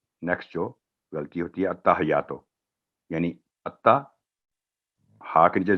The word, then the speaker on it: التحیات: پڑ جاتی ہے اور یا پر تشدید ہے, اس کو مس کر التحیاتو. تو التحیاتو, التحیاتو یہ اس کا صحیح تلفظ ہے.